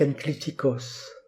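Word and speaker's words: ἐγκλιτικός: En effet, ce sont ce qu'on appelle des enclitiques, du grec enklitikos. Epsilon esprit doux gamma kappa, gamma devant kappa se prononce nu, sinon le mot ne serait pas prononçable, logiquement translittéré n en français.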